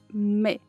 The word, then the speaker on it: Smith: Smith. Comece com o S sibilante, não assim, sh, mas assim, sme, sme. E termine com a ponta da língua entre os dentes e tente pronunciar um S.